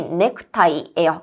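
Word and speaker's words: ネクタイ: 그래서 넥타이의 네가 될 건데 우리 일본어로 넥타이 발음이 넥크타이예요. 그래서넥타이의 네가 된다라고 봐 주시면 되겠죠?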